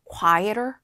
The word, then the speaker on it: quieter: 근데 이제 제가 약간 미국식으로 발음하는 편인데 t 그 water워 water터의 water처럼 발음이 약간음 흘려지는 그런 경향이 있어요. 그래서 quieter quieter so do you